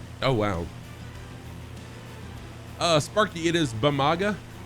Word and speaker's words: Bamaga: Sparky, it is Bamaga, right there. Bamaga.